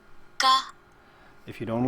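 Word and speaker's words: ཀ: And it's pronounced like K, A, right? Ka.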